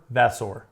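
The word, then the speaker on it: Vasseur: Vassor. Okay. Now, if you look at the pronunciation, I really want you to hit that sore.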